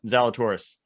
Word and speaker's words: Zalatoris: Zalatoris.